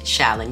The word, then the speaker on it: Challan: It's Challan. It's just Challan. You act like the C is an S and you spell it C-H-A-L-L-A-N, but you pretend it's S-H-A-L-L-A-N. That's how you say it.